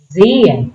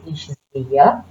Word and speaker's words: sehe: We do not pronounce H, so you don't say ich sehe. That's wrong. We want to say ich sehe, I see.